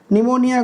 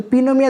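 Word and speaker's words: pneumonia: देखिए सर आपको निमोनिया हो गया है, निमोनिया में इसमें क्या होता है कि पी आता है, तो पीनोमिया तो आप नहीं कह सकते हो, तो इसलिए राइट वर्ड का राइट प्रोनाउंसिएशन।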